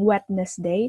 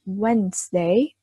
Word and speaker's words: Wednesday: Monday, Tuesday, Wednesday, bukan Wednesday, tapi Wednesday. Anggap aja D-nya nggak ada.